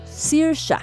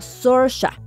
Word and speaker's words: Saoirse: las razones por qué en irlandés al parecer se pronuncian más como siria pero si lo decimos como los gringos vendría siendo algo más como soria por cuestiones de proximidad